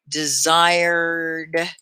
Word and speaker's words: desired: D-E, and then the S sounds like a Z. I, desired. And it's really just 2 syllables. The ED is not a desired. You don't have an extra ED, so it's desired.